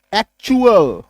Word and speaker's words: actual: यानी कि क्या याद रखिएगा, T plus यूएएल is equals to च प्रोनाउंसिएशन होने जा रहा है।